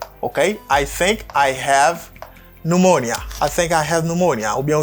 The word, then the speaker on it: pneumonia: Pneumonia. Pneumonia. Let's say again. Pneumonia. Let's do it together. Pneumonia. Okay. Pneumonia. That's great. You can try it. I think Okay. I think I have pneumonia.